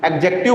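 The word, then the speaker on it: adjective: एडजेक्टिव बोलते हैं ना? डी इसमें साइलेंट रहता है।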